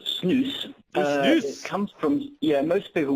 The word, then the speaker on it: snus: it what is yes this product well it's pronounced news comes from yeah most people won't have heard